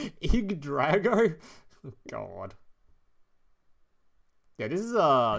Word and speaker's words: Yggdrago: it's like weird looking it's pronounced IG that still sounds IG Drago God yeah this is